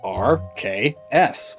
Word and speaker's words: Arceus: Arceus, and thus they gave it an ability known as the RKS system, spelled out RKS. So is that how Arceus is pronounced? RKS? Probably! And even if not, colloquialism is a major factor.